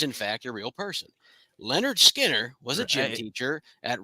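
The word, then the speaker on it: Lynyrd Skynyrd: the band that played on their debut album pronounced Leonard Skinner if I leave here tomorrow Casey Would You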